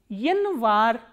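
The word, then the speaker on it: январь: Yanvar, stress is on A, that is why this Ya is reduced to E.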